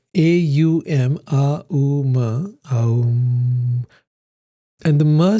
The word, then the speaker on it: Om: This expression, like the sound of a bell, is because when you chant Om, it's Aum. So this, when you do it's A-U-M, A-U-M, Aum.